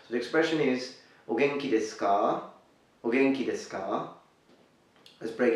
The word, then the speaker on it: desu ka: But here, we simply say desu ka, su, ku, suku, desu ka. We don't really say desu ka, but we say desu ka. And that's because it is found towards the end.